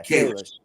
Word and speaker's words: Kalish: How you pronounce their name? Yeah, Kalish.